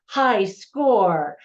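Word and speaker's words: Hyskaor: take over the world called high score now it's spelled h y s k a o r so at first glance you know it looks unique but it's just funny because it's you know high score and then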